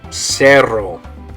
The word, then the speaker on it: cerro: Okay, notice that the only difference there is one has a single R, the other one has a double R. Okay, we'll talk about that later in a different video as well, but just so you know for now, those do make different sounds in Spanish.